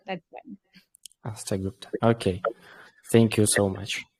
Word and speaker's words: Astha Gupta: And yes, you pronounce it like well. It's Astha Gupta. That's fine. Astha Gupta.